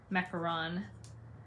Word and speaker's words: macaron: is pronounced mint macaron it's the French macaron um not a macaroon which is a type of cookie a macaron is a